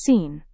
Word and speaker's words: scene: Fourth word is scene. In Hindi it means drishya. It is pronounced as scene instead of skeen.